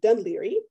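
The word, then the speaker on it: Dún Laoghaire: So this is a sign from Ireland, and it's actually pronounced, obviously, Dunleary.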